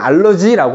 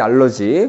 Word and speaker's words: 알레르기: 자, 알레르기 반응, 뭐 이제 이게 발음의 차이인데 영어식으로는 알러지라고 하지. 알러지. 그 다음에 독일식 발음은 알레르기인데 그냥 알레르기 반응이라고 할게.